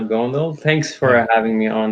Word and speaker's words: Gondal: my guest here is that's right is that how you say it's good yeah my name is gondol thanks for having me